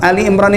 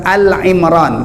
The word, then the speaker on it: Ali Imron: demikian juga Ali Imron Ali Imron itu apa apa saya bacanya bukan Al Imron kadang-kadang ada orang menyebut Al Imron bukan Al Imron Ali Imron Kalau antum wakafkan itu halnya tetap panjang Al Imron Al Imron